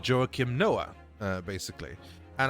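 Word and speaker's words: Joakim: And I think most people just pronounce it jokim at that point which I mean at this moment I'm fine with that even though that is not at all how I pronounce it or anyone in Sweden pronounces it but I mean who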